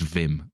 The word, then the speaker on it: Wim: this vim hoff book he insists on calling him wim but it's dutch so it's vim you know i can't